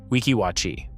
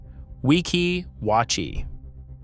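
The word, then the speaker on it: Weeki Wachee: Say the spring name correctly. Wikiwatchi. Wikiwatchi.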